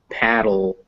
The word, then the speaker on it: paddle: Whether or not they're written with a D or a T, they're going to sound like dull. So beetle, paddle, battle, puddle. They all end the same.